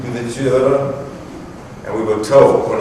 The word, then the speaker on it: Louverture: We named the correct pronunciation, Louverture.